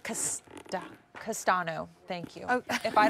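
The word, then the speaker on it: Castaño: Coco. Oh, wait. No, it's like Castano.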